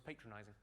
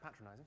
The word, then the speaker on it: patronizing: he thought I was patronizing. I said, "Well, I think you'll find that's pronounced patronizing."